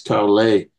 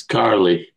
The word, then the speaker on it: Carley: my name in uh in Montreal it's Caray in the United States it's Carly I remember Sergey uh